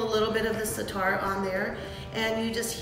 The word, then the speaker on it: Za'atar: Za'atar. Za'atar. Yeah. Za'atar.